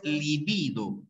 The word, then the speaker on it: libido: eso es libido pero date cuenta en la pronunciación una cosa es líbido y otra cosa es libido ya otra cosa es